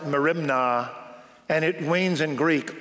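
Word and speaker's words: μέριμνα: in nothing the word anxious in greek it's pronounced like merimna and it wanes in greek all directions when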